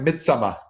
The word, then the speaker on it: Midsumma: I was telling you earlier, Midsumma, did I say it right? Midsumma. That's right, midsummer. I've never, because of the fact that it's written literally the way it sounds.